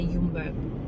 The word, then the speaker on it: Jumbo: jumbo and then then in dutch you say jumbo you don't pronounce the yes um anyway in hofdog